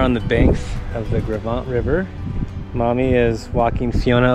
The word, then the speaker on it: Gros Ventre: I called it the Gros Ventre, which is not, it's French. It's like Gros Ventre.